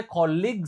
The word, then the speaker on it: colleague: Nah, ini bedanya colig sama college. Kalau colege itu kampus. Cara bacanya college. Kalau kolega atau rekan kerja itu kayak gini cara bacanya colig.